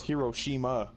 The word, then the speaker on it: Hiroshima: I didn't pronounce that right. No, it's Hiroshima.